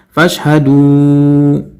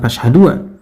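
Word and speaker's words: فاشهدوا: Padahal kalau kita lihat mushaf Madinah, di alif ini ada tanda bundar atau sifar mustadir, ya, 0 bulat, ya, yang tidak dianggap atau tidak dibaca, sehingga bacanya adalah fashhadu, ya, bukan fashhadua. Kemudian wa ana, ya, nanya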